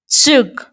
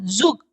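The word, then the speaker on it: Zug: "ज़ुग," यह आधे-टी जैसी ध्वनि है, "ज़ुग," इसे " ज़ुग" लिखा जाता है। ठीक है? लेकिन जब आप इसका उच्चारण करें, तो इसे "डेन ज़ुग" की तरह उच्चारित करें।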